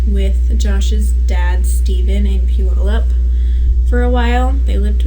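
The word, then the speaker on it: Puyallup: for about two years fun fact pew all up most people will read it and pronounce it wrong and it's not pu y'all up right yeah few all up they lived with stephen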